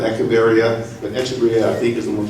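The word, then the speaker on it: Echeveria: Now we're getting the Echeverrias. That's generally how most people pronounce it. Some people use the K sound, Echeverria, but Echeverria I think is the more common pronunciation.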